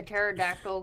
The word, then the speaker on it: pterodactyl: Okay, why can't you hear a pterodactyl go to the bathroom?